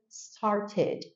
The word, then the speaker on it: started: vai adicionar oar ele no passado e a pronúncia fica started started ou por exemplo o verbo need el